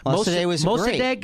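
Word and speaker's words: Mosaddegh: First democracy, and Mossadegh is how you say it.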